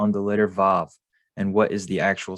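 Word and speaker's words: ו: So our title is, it's not Wa, it's Vav.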